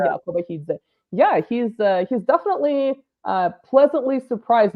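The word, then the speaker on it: Kobakhidze: It's Kobahidze. Whenever you have that KH, it's like a harsh H sound. Yeah, Kobahidze.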